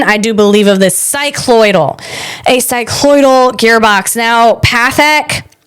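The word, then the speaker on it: cycloidal: I'm back with the right pronunciation. I do believe of this cyclloidal.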